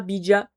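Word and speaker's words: bija: Euh le bid, ça s'écrit B I J A, mais j'ai vérifié la prononciation, ça ça disait vraiment bid.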